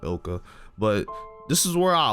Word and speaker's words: ILCA: I think it's pronounced Ilka, but this is where